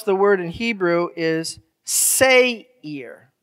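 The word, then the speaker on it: שֵׂעִיר: esau is edom and so how you would pronounce the word in hebrew is say ear say here all right so i want you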